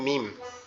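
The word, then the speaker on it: ميم: এরপরে যে অক্ষরটা আমরা দেখতেছি এটার নাম হচ্ছে মিম। এরপরে যে অক্ষরটা আমরা দেখতেছি এটার নাম হচ্ছে কি? মিম। মিম। মিম। এটা কেমনে উচ্চারণ হবে?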